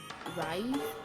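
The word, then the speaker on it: Rhys: know the love interest is Rise not rice I'm sorry it's not R when I heard it first they didn't spell it it was actually like r c e but actually r h Ys and then the other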